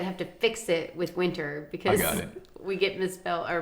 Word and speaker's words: Winter: to fix it with winter because we get misspelled or mispronounced. Yeah, we do. Winter. It's like, well, I am a winner, but it's winter.